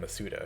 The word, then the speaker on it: Masuda: in this game mazda or apparently it's called masuda because in the presents they said junichi masuda